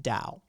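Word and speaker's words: Tao: believe in the Dow you've probably seen it spelled T AO but it's pronounced Dao it's the way the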